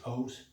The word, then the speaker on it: O.C.: We pronounce it as Os. And then I'm Os Jr. But whether you call it OC or Os, that's fine.